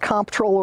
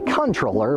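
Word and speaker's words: comptroller: And is it pronounced comproller or controller? Believe it or not, it's actually controller, but either way works.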